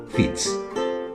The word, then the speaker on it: Fitz: del latín filius deriva la palabra francesa fish y la pronunciación normal está para ese nombre es fitz aunque después ese prefijo